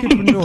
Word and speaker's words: Kidpreneur: So before we go into the UK leg of your teachings, let's talk about it's hard for me to pronounce, the Kidpreneur Awards. Is that right? Kidpreneur.